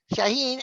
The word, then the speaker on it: Shaahin: His name is, now we're going to start this off bad because I'm going to mispronounce his first name. It's Shaahin, right? Yeah. Shaahin.